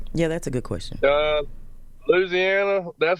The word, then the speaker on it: Louisiana: From Louisiana.